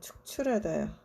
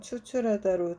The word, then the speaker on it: 축출하다: 그리고 하나 더 말씀드리자면, 드라이브 아웃 같은 거, 이제 이거는 축출하다요. 축출하다. 추출하다도 있죠. 발음 잘못하면 추출하다로 들리는데, 추출하는 거는 어떤 성분 같은 거를 빼내는 거니까 이런 뜻은 아니고, 축출하다 또는 더 쉬운 한국말로 말하면 내쫓다.